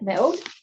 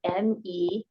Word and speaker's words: me'od: I think it's Me'od. Naod? Me'od. It's got like a weird pause in it.